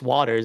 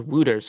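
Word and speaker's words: Wouters: Yeah, and someone like Chase Waters is someone who I think is going to survive the first round. First of all, I'm surprised it's pronounced Waters. I thought it was Wooters for the longest time, and then I was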